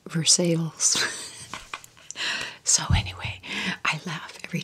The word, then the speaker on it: Versailles: this is called spelled Versailles but it's it's pronounced Versailles so anyway I laugh every time my dog